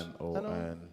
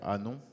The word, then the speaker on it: Hanon: H-A-N-O-N. Is he French? Anon. I think yeah, Hannon. Anon. We say Hannon, but it's probably the wrong pronunciation.